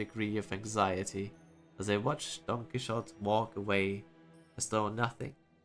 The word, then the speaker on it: Don Quixote: With the typical Spanish pronunciation, the X in Spanish is pronounced like a J, like a J. So you have to say Don Quixote.